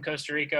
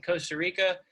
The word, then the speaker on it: Costa Rica: Rican Spanish is in Costa Rica, they don't say Costa Rica. Like you're supposed to roll your R when it's the first letter in the word.